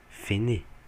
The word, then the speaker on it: fenêtre: Só que como ela termina em uma consoante fonética, porque o E é mudo, então a gente tem uma consoante fonética no final, e a próxima palavra começa numa vogal, ou seja, U, esse TR passa para a próxima sílaba. Então essa palavra ela só vai ser pronunciada fené, no caso fené.